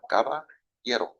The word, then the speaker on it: Caballero: Spanish for cowboy. You just use the Y sound. Caballero. Oh, you gotta roll it a little bit.